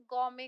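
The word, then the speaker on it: gourmet: इसको आप क्या बोलेंगे गमे कहेंगे इसमें टी साइलेंट होता है बच्चों ठीक है यह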